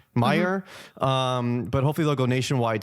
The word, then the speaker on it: Meijer: Yeah, and they've only been spotted at is it Mayer? M-E-G-I-E-R? Oh, Meijer. How do you pronounce it? Meyer, but hopefully they'll go nationwide soon.